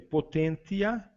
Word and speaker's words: potentia: Seguindo aí, potentia, né? Nós vamos pronunciar o T aí, potentia, em latim, que geralmente na finalização deu C no português, né?